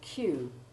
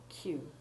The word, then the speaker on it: queue: Then there is the peculiar word queue.